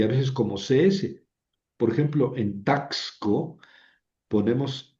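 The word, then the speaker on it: ξ: No, no hay que poner la X porque ya les digo que en español la X tiene muchos valores diferentes. Entonces, hay que hay que pronunciarla como CS, la XI.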